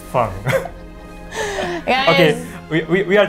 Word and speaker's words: Fang: pronun pronunciation which is in the Chinese style of course we are not including all the tone we are just uh